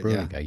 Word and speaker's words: Bruninga: Is that how you say his name? Bruninga? Something like that. Yeah. Bruninga, yeah. Bruninga. Bruninga.